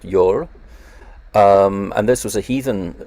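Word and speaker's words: jól: also known as yule deriving from an old norse word which i think is pronounced you're and this was a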